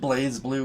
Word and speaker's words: BlazBlue: games like injustice and blazblue for this and yes i understand that it's pronounced blaze blue but come on look